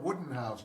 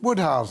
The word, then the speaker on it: Woodhouse: advisor 21 i'm not wooden house neither oh i'll accept i don't it's woodhouse and it's only the